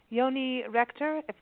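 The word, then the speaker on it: Yoni Rechter: That's very, and this is this Yoni Rector? Am I pronouncing that correctly? Yoni Rector, you're very good.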